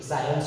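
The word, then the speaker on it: science: यहां पर आपको क्या हो जा रहा है? सी साइलेंट हो जा रहा है। क्योंकि एस के बाद आ रहा है। किसके बाद आ रहा है? एस के साइंस में सी एस के बाद आ रहा है। इसीलिए यहां पे सी साइलेंट साइलेंट हो गया।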